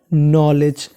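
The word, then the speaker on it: knowledge: अगर आपको इंग्लिश में कहीं पर DGE लिखा मिले तो उसे पढ़ना है ज, तो मीनिंग बन गई नॉलेज। अगर N से पहले K है तो K हमारा साइलेंट रहता है।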